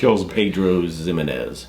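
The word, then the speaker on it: Pedro Ximénez: like I think it's it starts with a x but it's pronounced with Z Pedro zimz kills me every time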